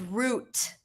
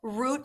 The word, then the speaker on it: Route: Mom, what everybody is agreeing in the chat that it's root long o root 66.